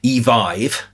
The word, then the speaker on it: Evive: We spoke to a driver recently during a trip to Evive, yes, that's apparently how you pronounce it, who was unable to